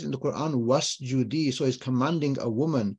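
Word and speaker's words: واسجدي: When you stick a waw there, the alif doesn't get pronounced. You just say, wa'lami, wa'lam, right? The alif, when you join in a previous letter, then the alif sort of gets dropped. You don't pronounce it, right? That's the Tajweed rule.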